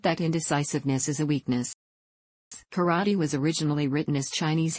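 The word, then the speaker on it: 唐: such words as meaning Chinatown thus the word karate was originally a way of expressing martial art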